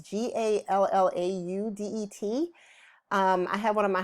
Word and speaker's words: Gallaudet: pronounce that word right see the Gallaudet a gala day but it's gee al Lau Det I have one of